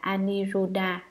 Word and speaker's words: Aniruddha: Ngài An Nậu Lâu Đà, Ấn Độ đọc là Aniruddha, chữ Hán là Vô